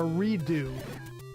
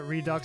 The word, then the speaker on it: Redux: This is called Zelda 1 Redux, or Redo, as it's, I think it's really pronounced. But I like to pronounce it Redux because it sounds cooler.